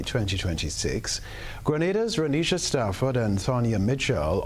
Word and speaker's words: Grenada: But I heard in English it's called Grenada. Say it right. Grenada. Say it right. Grenada. That's right. Grenada. There we go. Say it right. It's Grenada. It's not Grenada. It's Grenada.